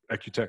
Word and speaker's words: Equteq: by mark payne the co-founder and ceo of ecutec and i i pronounced that equitec i pronounced that correctly right that's right yep perfect